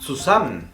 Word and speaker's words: zusammen: La Z, al principio de la palabra, se pronuncia como una TS. Por ejemplo, das Zimmer, la habitación. Das Zimmer. Zusammen, juntos. Zusammen.